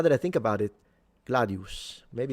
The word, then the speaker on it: gladius: Uh the gladius as well gladius with the long oo I believe.